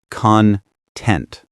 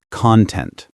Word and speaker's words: content: It's content, not content. If you say content, you're talking about the stuff inside something like YouTube content.